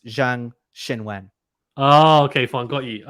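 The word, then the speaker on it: Zheng Qinwen: yeah, it's the Q is the SH sound. Oh, And okay. and and Okay. the names are reversed. So it's Zhang Xinwen.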